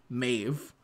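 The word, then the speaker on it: Medb: even though it's spelled me e DB it's pronounced mave um and so there's a lot of words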